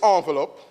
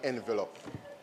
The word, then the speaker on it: envelope: President this envelope that's how it's pronounced just like entrepreneur and ensemble it's not entrepreneur and envelope so Mr.